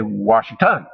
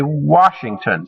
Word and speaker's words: Washington: unstressed syllables example our word washington the first syllable the wah is where we put more emphasis we don't say washington or washington we say washington so the stress is put on that first syllable well poets use the